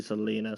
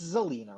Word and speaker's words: Zelena: that's what a sleepy selena sounds like so i'll leave celina it's zelena right zeo that's how you pronounce it okay so zelena